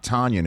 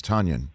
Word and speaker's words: Tonyan: somebody says to me it's not tonyan it's tonyan so i want to